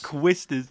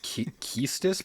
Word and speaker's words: Quistis: Just say Quistis. Quistis. It could be Keistis, but that's the dumbest pronunciation I've ever heard. I like Quistis better. Quistis. It kind of like flows like Quistis, like, you know.